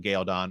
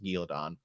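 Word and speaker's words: Cairhien: It's obvious there's computer graphics over it and all this stuff, but technically we're in Galeon, or as I still call it, because it's how it's pronounced in the books, Galeon.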